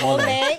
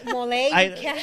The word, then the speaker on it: Molle: Not ole. No, it's MOLLE. Mole.